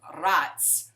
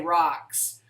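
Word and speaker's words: Racz: Her last name now, she married a Hungarian guy with the last name of Ratz. R-A-C-Z, Ratz. She said, I can't say it like that. I'm going to say rocks.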